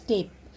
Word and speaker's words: tape: We pronounce it as tape, but the E is silent.